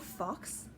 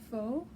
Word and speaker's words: faux: It's not fox. F-A-U. Have I been pronouncing it wrong this whole time? Fox. Faux.